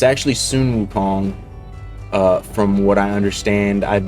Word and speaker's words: Sun Wukong: I just said his name wrong for 2 times in a row, but it's actually Sun Wukong.